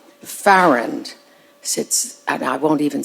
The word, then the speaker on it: Farrand: it the wrong way she herself said that you pronounce it fair and or I would say like errand Ferrand since and I won't